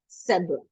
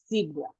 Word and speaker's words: zebra: the sound and then in British English this is a cbra in American English this is a cbra okay there are two pronunciations British SRA American zebra yeah so he has